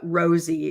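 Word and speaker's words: Rozzi: think that will give Rossy and uh Rosie is the way he pronounces it and Baldwin both uh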